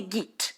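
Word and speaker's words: גוט: Então, por exemplo, em alemão, bom fala-se gut. Em hebraico fala-se git. Então, em Yiddish. Em Yiddish, desculpa, errei. Errou. Em Yiddish fala-se Git e em alemão falaria-se Gut.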